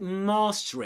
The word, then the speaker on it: master: In an American accent, it usually sounds more like master, with that R sound more pronounced and the A more open. So where I'd say master